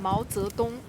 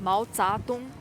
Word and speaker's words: Mao Zedong: He deliberately pronounced Mao Zedong as Mao Zadong to mock Hunan dialect on purpose.